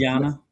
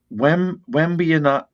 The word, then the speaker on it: Wembanyama: Wembanyama. Yeah, it's a tough one. Wembanyama. Yama. Because I know it's Yama at the end.